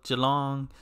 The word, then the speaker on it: Geelong: I was saying Geelong, and somebody was like, say it like Jello, like how you say Jello, Geelong, Geelong.